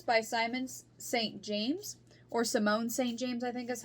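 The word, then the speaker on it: Simone St. James: of cold cases by simon saint james or simone st james i think is how it's pronounced yes simone so i was just interested in this um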